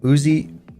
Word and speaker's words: USEA: USEA is pronounced Uzia?